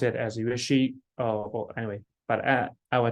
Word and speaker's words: Yueqi: So if you take Q as SH, that will be very close. You can pronounce it as Yueqi, or anyway, but I will take it.